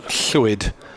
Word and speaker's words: Llwyd: It's the Welsh version, Llwyd, the way you pronounce the Welsh double L.